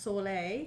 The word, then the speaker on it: Sole: Yeah, so but it's pronounced Soleil.